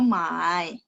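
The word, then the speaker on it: 卖: Kalau nada 3, mai. Itu beli. Mai. Kalau nada 4, mai.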